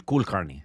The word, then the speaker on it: Kulkarni: That's how you pronounce yes, his last name? Yes, Kulkarni. Kulkarni.